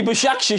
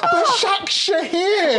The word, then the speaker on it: Başakşehir: Well, there's no chance it's going to be Başakşehir here. You've still got it wrong. Başakşehir.